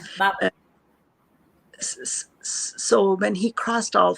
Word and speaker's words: Babur: So this is when Barber crossed the Mughal king, Barber. Is that the right Babur. pronunciation? Yes. Yeah, Babur.